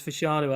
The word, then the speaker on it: Fashanu: Yeah, it's so hammered into me that it's Fashanu after we've talked about it.